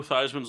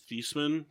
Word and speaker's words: Theismann: backed first overall joe theismann's last name is actually pronounced as thiessman but he changed it to theisman before his senior year at notre dame because it rhymed with heisman that's funny i never